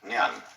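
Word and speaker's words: 念: It's pronounced Nian. In Japanese, Nen.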